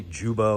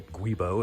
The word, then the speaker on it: guibo: is this rubber disc it's also known as a jubo or a guibo if you say it phonetically that uh we're going